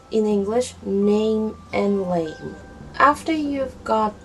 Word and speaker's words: 男: Nam. Male. Human male, not letter male. Okay. And his brother, lamb. Lamb. Blue, the color blue. Nam is the one with a nasal sound.